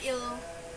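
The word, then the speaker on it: ils: Tapi il sama els ini tuh nggak dibaca s-nya, jadi nggak pakai s, jadi sama aja il.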